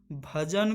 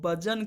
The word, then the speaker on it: भजन: तमिल बोलने वाला सुहैल अक्सर भजन को बजन कहता है, ज़बान के टीचर के तौर पर आप क्या करेंगे, यानी कि उसका प्रोनाउंसिएशन सही नहीं है, भजन को वो बजन कह रहा है, तो एज ए